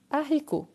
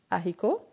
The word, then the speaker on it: haricot: J'achète du haricot. Haricot, c'est un H, mais c'est un H aspiré.